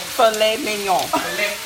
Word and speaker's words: filet mignon: You gotta say it like filet mignon.